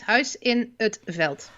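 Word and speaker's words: Huis in 't Veld: It's Huis in Veld.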